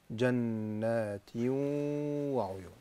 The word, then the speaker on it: جنات وعيون: ماذا أفعل؟ أفعل شيئين. أول شيء أدغم التنوين في الواو فأقول جنات. ثاني شيء غن بمقدار حركتين فيصير النطق جنات وعيون.